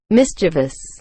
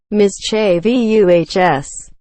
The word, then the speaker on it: mischievous: Mischievous. Mischievous. There's no I in the VU.